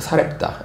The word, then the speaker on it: 사렙다: 자, 근데 사르밧 과부가 음, 오늘날이 신약에서는 사르밧 그러지 않고 사렙다라고 해요. 그 헬라어식 히브리식 발음은 사르밭이고 헬라식 그 단어는 어이 사렙다입니다. 사렙다.